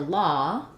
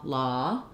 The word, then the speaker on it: law: like these is to take another word with the same vowel and use that for comparison so just trying like no low to keep those the same or go low and then for law trying saw law or caught law you're not going to